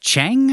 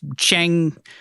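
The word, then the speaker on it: Qiang: The servant we saw earlier, or guard, uh, Chang, I think is how you say it. Q I A N G. King, I think it's I think it's like Chang.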